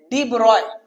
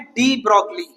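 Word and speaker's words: de Broglie: है okay डीब्रॉय okay कई सारी जगह पर जो पढ़ने में आता है वो है डी ब्रोगली ओके लेकिन एनसीआरटी ने उसका प्रोनाउंसिएशन लिखा है कि भाई ये इसको प्रोनाउंस कैसे करेंगे तो डिब्रॉय कैसे बोला है डिब्रॉय तो लिखने में जैसा अगर देखेंगे हम ये डी ब्रोगली ऐसे लिखा जाता है ओके लेकिन डीब्रॉय इस तरह का प्रोनाउंसिएशन है अब इन्होंने जैसे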